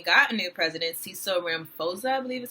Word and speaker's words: Ramaphosa: If you did not know, South Africa just recently got a new president, Cecil Ramaphosa, I believe is how you pronounce his name.